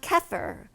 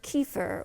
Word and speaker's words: kefir: risk of cold and then we have kefir or kefir or kefir all three pronunciations i found in the merriam-webster dictionary so you can you can pronounce it any way you want it's a fermented